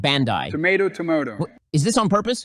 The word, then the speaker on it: Bandai: It's pronounced Bandai.